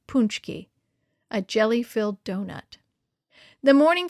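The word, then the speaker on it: pączki: maybe buy a punchki uncle says to pronounce it punchki a jelly-filled donut the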